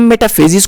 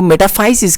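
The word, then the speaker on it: metaphysis: Words है जिसको हम दो तरीके से इसकी प्रोनाउंसिएशन कर सकते हैं। ये फॉर एग्जांपल मेटाफेजिस है। अब इसको हम मेटाफेजिस, कुछ लोग इसको मेटाफेजिस कहते हैं, कुछ लोग इसको मेटाफाइसिस कहते हैं।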